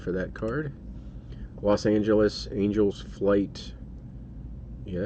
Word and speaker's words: Angels Flight: that card los angeles angels flight yeah i should say angel's flight and not angela's flight isn't it angel's flight